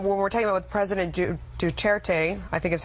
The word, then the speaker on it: Duterte: I think that the other, when we're talking about with President Duterte, I think is how you say his name. Rodrigo Duterte.